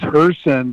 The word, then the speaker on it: Hirsen: yours but my last name is her sin but it's spelled h-i-r-s-e-n so they look up